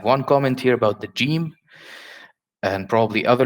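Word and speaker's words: جيم: common with another languages, but in Arabic Fusha, we never say Ga. We never say like English good or great. We don't say Ga. We always say Ja. Jamil. It's always be, we call it mu'attash. So Jim will never be Ga. It's always Ja. Ja.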